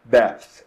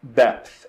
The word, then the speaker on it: depth: Então nós estamos vendo aqui é depth, depth, ok? Bem difícil de pronunciar também pra gente, né? Esse P, ele é bastante sutil, e depois o TH lá com a língua, né, atrás dos dentes, principalmente ali dos dentes